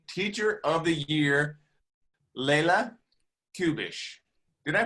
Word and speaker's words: Kubesch: 2020 Teacher of the Year, Leila Kubesch. Did I pronounce that right? Very close. What's the right way? Kubesch. Kubesch. Kubesch.